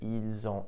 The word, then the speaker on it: ils ont: You'll also notice that when I pronounced it, ils ont, elles ont, the S in il, elle, which is normally silent, was actually pronounced, and I pronounced it like a Z.